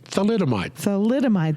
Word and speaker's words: thalidomide: Thalidomide scandal.